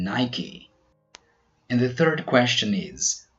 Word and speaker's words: Nike: Some other words we pronounce the final E are recipe, acne, and Nike.